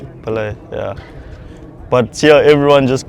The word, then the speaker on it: Pillay: It's spelled Rijul. And the last name? Pillay. Pillay, yeah.